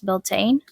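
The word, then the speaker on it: Bealtaine: My favorite one actually has to be the Bialtana one, commonly pronounced as Beltane.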